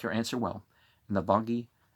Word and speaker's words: Nalvage: Navalgi, Nalvage, some people are going to pronounce it that way, said, our wisdom shall prove rhetoric.